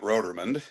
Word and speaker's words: Rotermund: the trap where he he mispronounces my last name. So, I have to I'm going to I'll straighten that one out. So, so but my my name is Roderman.